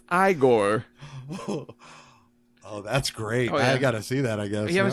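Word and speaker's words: Igor: monster Daniel Radcliffe was i Gor it's pronounced I Corr oh that's great I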